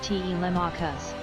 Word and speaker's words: Telemachus: actually pronounced Telemachus. Little known fact of the day, your name comes from Homer's Odyssey, and it actually pronounced Telemachus?